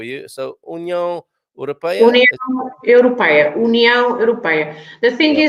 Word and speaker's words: Europeia: And then we have on Europeia this EI that always makes difficult the pronunciation for British with the EI, right? Europei, it's a sound A, and sometimes people struggle with that sound. A. Europeia.